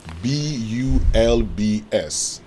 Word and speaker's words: bulbs: bulbs bulbs bulbs bulbs so there's Z at the end yes because because B is a voiced sound okay okay so uh